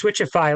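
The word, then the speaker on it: Switchify: okay let's talk about switch ify then yeah okay so I'm saying it right right it's switchy like Spotify or rewardify yeah it's not okay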